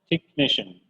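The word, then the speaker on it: technician: كمبيوتر تكنيشن. تك الاتش هنا سايلنت مش موجوده خالص يبقى تك.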